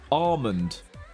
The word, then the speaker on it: almond: meant to be pronounced almond. You know, like the L in palm tree. You don't say the L. It's just palm tree. Apparently almond is not pronounced with the L.